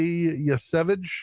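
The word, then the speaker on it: Yesavage: Um, and my AL is Trey Yvage.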